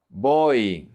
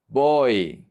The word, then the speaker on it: voy: If the Y is at the end of the word, it's pronounced like a vowel.